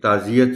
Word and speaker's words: تعزیت: شد دی ہوتی ہے، لیکن یہ جو لفظ تعزیت ہے اس میں یہ پر شد نہیں ہے. سو اس کا جو تلفظ ہے اس میں شد شامل نہیں ہوگی. اس کو ہم پڑھیں گے تعزیت سے، تعزیتی بن گیا، اور